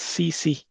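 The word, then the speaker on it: tsetse: an insect called as CC. TSC, where T is silent.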